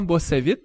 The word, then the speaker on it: Bossavit: On est dans les bureaux du crime et avec nous, on a Bossavit. C'est comme ça que tu prononces ton nom?